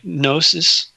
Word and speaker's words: Gnosis: Gnosis, spelled with a G.